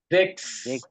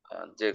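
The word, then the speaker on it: sechs: সেন এল 16 clear ভাই এই সিক্স এর উচ্চারণটা আমি আসলে বুঝতেছি না জেক্স জেক্স জেক্স হ্যাঁ জেক্স জেক্স এটা বানান করলে কি হবে আমি আপনার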